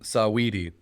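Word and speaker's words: Saweetie: the last one um sawedy it's like her name's like oh oh oh right like sweetie but it's spelled with an a okay does she have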